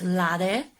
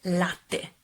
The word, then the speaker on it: latte: Also when you pronounce prosciutto, latte, you have to double T your T. So not latte, not prosciutto, but latte.